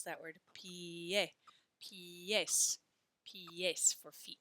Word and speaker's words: pies: The letter I says E, and the letter E says E. So we pronounce that word pie, pies, pies for feet, not pies.